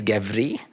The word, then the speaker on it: Gevrey: It is a wine that at least I would pronounce it. It's Gevrey. So for me, it's Gevry.